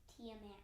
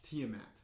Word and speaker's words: Tiamat: of the chromatic dragons and a tiamat it's pronounced tiamat tiamat oh okay i'm sorry tiamat now your kingdom